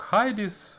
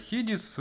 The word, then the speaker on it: Hidizs: одній навушники від Huggies в цілому мабуть їх більш правильно вимовляти як хайдіс але хто ж в нас транслітирує все дослівно тож хідіс не так давно я оглядав